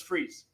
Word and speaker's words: Fries: Fries animated series is Victor Victor Fri but pronounce as freeze get the [ __